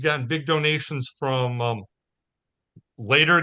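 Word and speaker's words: Leder: big donations from um later games because I refuse to pronounce it leader because it's German for leather um sorry van Ryder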